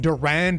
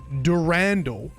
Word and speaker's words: Durandal: Anyway, got some not nice feedback about how I said Durand in the last video, and this ended up being a massive rabbit hole that I spent like over an hour talking about on stream. Actually, Bungie themselves pronounce it Durandal in their Marathon Forge tutorial